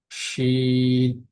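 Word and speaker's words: ش: আর শিনের মধ্যে উচ্চারণগত পার্থক্য হচ্ছে, এটার উচ্চারণ বাংলায় আমরা তালিবর্ষ যেভাবে বলি, অথবা ইংলিশে যদি এস এইচ যোগ করে আমরা যদি উচ্চারণ যেরকম আমরা দেখি, সেরকমটা উচ্চারণ হয়। এটার উচ্চারণটা কেমন? শিন, শিন।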